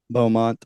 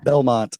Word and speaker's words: Belmont: She's going to college there at the Beaumont, I think's the name of the college. Belmont. Yeah. Belmont is how you say it.